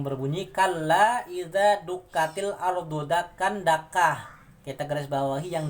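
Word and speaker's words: دَكًّا: Tapi karena dia waqaf, berhenti ya, maka dia akan dibaca fathah ten diganti menjadi fathah mat tabi'i, fathah alif ya. Seperti ini bacanya. Kalla idza dukkatil ardu dakkan dakka, ka, satu alif.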